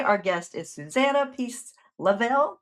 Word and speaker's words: Lovell: guest is Susanna Peace Lavel. Lavel, how do you say your last name? I didn't even ask. Yes. Yes. Emphasis on the word love.